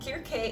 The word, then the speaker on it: Kirkè: and black here k this is how it's pronounced we went ahead and researched it um and kierke is actually another name for the goddess cersei